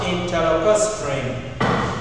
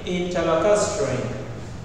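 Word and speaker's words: interlacustrine: This one is interlocustrain. Repeat after me, interlocustrain. Let's spell it I N T E R L A U C U S T R I N E.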